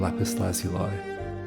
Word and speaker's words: lapis lazuli: Take out the tablet of lapis lazuli. Read. The Epic of Gilgamesh, 1300 BCE. Lapis lazuli, lapis lazuli, I think both pronunciations are used.